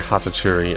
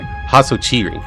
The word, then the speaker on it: Hatsuchiri: Right after Hatsachuri appears. Oh, sorry. Hatsuchiri. That's how you say it.